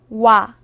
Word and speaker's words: 와: 와. 와는 먼저 오를 소리낸 후에 바로 이어서 아를 소리내며 발음합니다. 오와 아를 순서대로 빠르게 말해요.